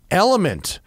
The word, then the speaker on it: LMNT: in part today by element it's pronounced element but it's spelled lmnt because it's techie right